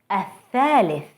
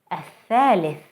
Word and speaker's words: الثالث: الثالث, الثالث, the third.